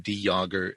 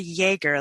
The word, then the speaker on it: Jager: It's a very silent J. Jager. It's a French pronunciation, which fits in with the distant ancestry of ours.